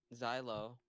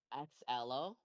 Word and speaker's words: Xelo: Some people say Xelo, Hmm. some say Xylo somehow. Some call me, which I'm actually okay with because it's funny. Yeah, There's wait, Xelo.